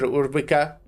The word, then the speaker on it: Urbika: Dr. Urbika. I don't uh that's how you say your surname, right? You pronounced it beautifully.